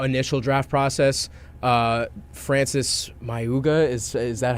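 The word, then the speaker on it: Mauigoa: into like the initial draft process, uh, Francis Mayuga, is is that how we're is that how you pronounce it? The the the Goa Maui Goa Maui Goa offensive tackle.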